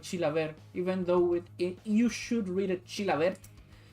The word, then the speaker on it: Chilavert: Chilaver in Paraguay does not pronounce the final T, but in Japan it has become Chilaverto.